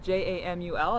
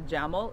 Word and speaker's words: Jamul: It is about 45 minutes east of San Diego, in just south of a little town called Jamul. It's spelled J-A-M-U-L. It's not a Jamul, it's Jamul.